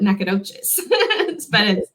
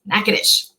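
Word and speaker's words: Natchitoches: you are in texas you might call it nacogdoches they've got like a couple of different variations on it in mississippi and texas but in louisiana it's nakedish all right that next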